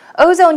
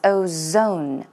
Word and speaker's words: ozone: Ozone here, 오존이 아니라요. Z 발음 정확하게 해주세요. It's ozone, ozone, ozone.